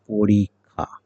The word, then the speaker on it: পরীক্ষা: তাহলে পরীক্ষা হবে না, এটা হবে কি পরীক্ষা। এবং আমরা জানি ক্ষীয় থাকলে, কোথাও যদি ক্ষীয় থাকে, সেই ক্ষীয়টার উচ্চারণ হয় ক এবং খ একত্রে উচ্চারণ করলে যা হয় তাই।